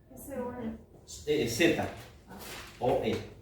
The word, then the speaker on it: Zoe: Z, o E, acento en la E, Zoe, que es la vida de Dios.